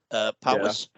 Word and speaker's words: Powys: It's spelled Powys. Is that Powys?